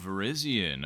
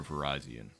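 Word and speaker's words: Virizion: Okay, now I'm Now you really It depends on who you ask how certain Pokemon are pronounced. So, is it Verizian or Verizonian? I've always said Verizian myself, but that's just me.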